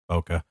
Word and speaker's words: bokeh: I know that was terrible, and I also know it's not technically pronounced bokeh. It's bokeh.